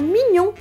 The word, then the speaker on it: mignon: que todo mundo acerta a pronúncia da palavra mignon não é ninguém Desligue no eu pelo menos nunca houve e essa é uma das regras de pronúncia do francês o GN tem som de NH dinheiro em francês por